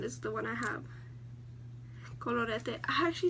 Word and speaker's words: Colorete: Colorete. I actually said it right, I think. Colorete. Like you have to let the R roll.